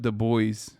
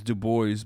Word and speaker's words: Du Bois: Like, in America, you read it as Du Bois, but this is yet another instance where you guys are yelling at me for me being right and you being wrong. I mean, gave up the French pronunciation to emphasize his blackness.